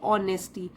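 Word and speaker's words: honesty: तो अब जो ये वाले मूल्य हैं ये नींव रखते हैं दूसरे मूल्यों के लिए, जैसे कि ऑनेस्टी। इसमें जो एच है वो साइलेंट है, तो हम यहाँ से पढ़ेंगे इसको ऑनेस्टी, ईमानदारी।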